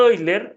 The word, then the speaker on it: Euler: aquí voy a decir voy a tener cuidado para pronunciar los nombres de los científico correctamente el número de hoy leer está bautizado en ahora leonhard euler de quien probablemente han